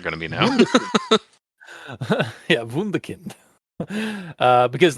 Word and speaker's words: Wunderkind: So yeah, that's got to be like German or something. Oh, absolutely. Yeah. I say that like it's absolutely not going to be now. Yeah, Wunderkind.